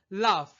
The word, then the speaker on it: laugh: লাফ। লাফ শব্দটির শেষে কিন্তু এ ইউ জিএইচ প্যাটার্ন ফলো করছে। যার কারণে জিএইচ এর উচ্চারণ ফ হয়।